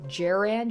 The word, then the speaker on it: Jaran: So it was, I think it's Jaran. She said J, or like J as in jester, and Ran as in ransom, so Jiren.